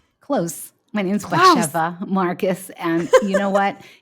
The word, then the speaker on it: Batsheva: Batsheva, it's from another language. It's just the accent's on the middle syllable, and it throws everybody off.